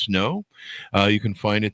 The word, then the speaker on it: SNO: It's called The Image: A Quantum Portal Has Open, part of the SN O Chronicles, pronounced snow.